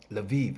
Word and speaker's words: Lviv: You see them written a certain way, like Lviv.